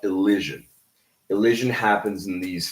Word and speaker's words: elision: No, it's not illusion. Illusion is a different word. I'm talking specifically about elision.